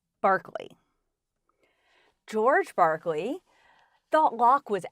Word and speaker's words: Berkeley: Yes, it looks like its spelled “Berklee”, but it's pronounced “Barkley”.